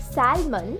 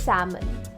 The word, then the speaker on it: salmon: It's not salmon, it's salmon. L is silent. Salmon.